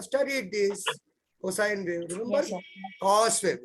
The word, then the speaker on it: cosine: this cosine we remember cos wave we call it as cos but we prob we have to pronounce it as cosine we generally pronounce it cos understood this clear is